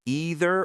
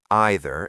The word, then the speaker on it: either: And to make it even more confusing, many people in America use the British pronunciation and many people in the UK use the American pronunciation depending on the sentence flow.